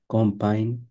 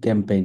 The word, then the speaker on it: campagne: কম্পাইন, এটা কিন্তু ক্যাম্পেইন না, কম্পাইন, কম্পাইন, এম উচ্চারণ করা যাবে না, কম্পাইন, কম্পাইন ফ্রান্সেজ।